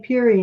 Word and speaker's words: Pierre: on Peary Street, and I couldn't find Peary until somebody explained to me that that was how they pronounce Pierre Street.